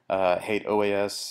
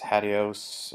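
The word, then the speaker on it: HATEOAS: Hate OAS, HADIOS, I've heard it said many ways.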